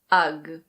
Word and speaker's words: UGG: This one is UGG UGG. Lots of people think that this is an Australian company, because UGG boots were first made in Australia and New Zealand, but this is actually an American company.